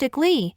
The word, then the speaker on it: ICLEI: Your consumption data is critical to adopting voluntary non-government organizations programs set out by the International Council on Local Environmental Initiatives, pronounced ICLEI, the Federation of Canadian Municipalities, FCM, and their joint partnership program named Partners for Climate Protection Program, or PCPP for short.